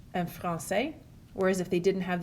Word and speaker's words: français: The cedilla, it only exists on a C, and what it does is changes the pronunciation from a hard C sound like a K to a soft C sound like an S.